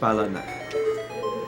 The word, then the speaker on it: Balanyuk: Oh, surname is pronounced, it's Balanak.